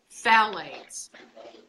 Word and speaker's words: phthalates: this word is HT h al ates it's pronounced phallus it is the cool that goes in plastic